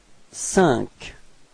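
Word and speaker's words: cinq: the sound repeat okay and then sank Okay so e+ n you get the sound okay so you get this s repeat sank okay and then CE so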